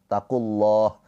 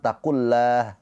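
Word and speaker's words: اتقوا الله: Ketika lafaz Allah harakat sebelumnya dhammah atau fathah dibaca tafkhim tebal pakai o. Taqulah jangan taklah ya.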